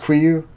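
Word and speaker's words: KUIU: Yes, it's pronounced Quiyu.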